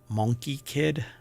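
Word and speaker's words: Monkie Kid: um monkey kid um I'm sure it's monkey kid it's just pronounced monkey kid but I like saying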